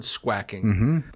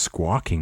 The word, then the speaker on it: squawking: it's a horse's name a bird squacking i think it's pronounced squawking isn't it i use that term